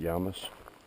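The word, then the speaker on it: Llamas: It spells out L A M A S I think pronounces it Yamus.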